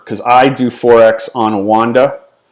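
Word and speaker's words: Oanda: i do 4x on wanda that's how i pronounce it some people may call it oh and uh or whatever i call it a wanda okay so if i'm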